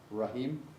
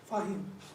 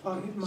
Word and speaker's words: Fahim: Yeah, And is it Rahim? Fahim. Fine. Fahim. So I don't, my glasses are, oh yes, it's an F.